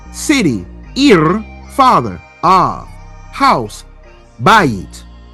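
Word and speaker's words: בית: House, bayit. Or some would call it bite, known as a diphthong.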